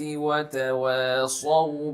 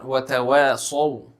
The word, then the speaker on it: وَتَوَاصَوْا: So the Sad which is there in the word وَتَوَاصَوْا, it is very often missed by people when they read this surah. So be mindful of the Sad, pronounce it as a heavy letter, and you need to retain its quality of heaviness, of tafkhim in it.